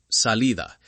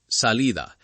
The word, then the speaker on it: salida: Finally, the soft D between vowels. Cuidado, ciudad, salida. It sounds like a very soft th in some accents. Cuidado, ciudad, salida.